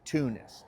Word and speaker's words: Teunis: Not that it did also just have to mention the name Tanis. Some people pronounce it Tunis. And what it is is it's a dimminionative of Antonius. It's Dutch. Anyway, no one talks about this guy anymore.